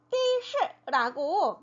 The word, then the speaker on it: 的士: 이 영어를 음역해서 的士라고 말을 하기도 해요. 네, 우리가 잘 알고 있는 그 더죠. 던데 택시라고 할 때는 띠라고 발음을 해준대요.